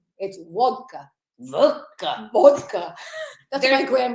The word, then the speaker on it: vodka: It's vodka. Vodka. Vodka. That's what my There's- grandmother would have There's said. no It's D in there.